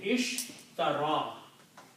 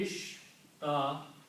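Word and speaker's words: اشترى: And when you pronounce, it will be ishtara. Okay. The harakat will be ishtara.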